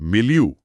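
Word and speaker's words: milieu: ये उच्चारण को मिलेगी यू से जोड़कर माहौल के कॉन्टेक्स्ट में याद रखने की कोशिश है।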